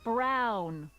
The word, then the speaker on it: Brown: I doubt it that's Emmett Brown rhymes with clown which I'm beginning to